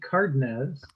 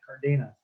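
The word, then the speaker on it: Cárdenas: she probably pushed at tony cardinids that's the way he pronounces it he doesn't pronounce it cardenas unfortunately but uh she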